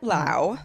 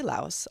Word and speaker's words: Laos: it's super true in lao the country um and that is how it's pronounced but people say laos also fine but you know whatever